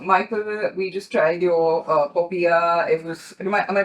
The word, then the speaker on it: popiah: So, Michael, we just tried your Popiah. It was, am I pronouncing it correctly?